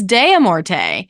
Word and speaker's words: de Morte: I mispronounced that last time, but Mary Kirby posted on Twitter. It is de Morte.